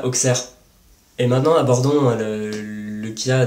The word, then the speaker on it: Auxerre: Comme par exemple dans 60 en France, on ne va pas dire Soixante, ou même Auxerre, ça ne se prononce pas Auxerre.